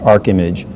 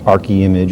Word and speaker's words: Arc Image: our name uh and it is pronounced Arc image not Ary image or Arch image I said it right